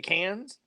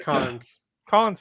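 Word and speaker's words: Cannes: how you pronounce it c-a-n-n-e-s yes the cans yeah depends on where you're from good yeah from the south is the cons Film Festival let's go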